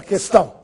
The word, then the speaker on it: questão: Que, sem trema, quente, questão, quesito. Você notou se eu pronunciei a letra U? Não.